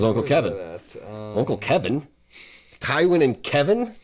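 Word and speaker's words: Kevan: But she said Uncle Kevin. Like Uncle, like not... Yeah. Not, it wasn't like Kevon. Like... It was Uncle Kevin.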